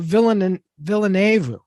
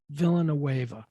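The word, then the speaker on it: Villeneuve: No, Villenueve. Just say Denny. Villenueve.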